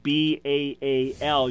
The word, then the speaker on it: Baal: Now, you'll see this as a proper name, B-A-A-L. You normally pronounce it Baal.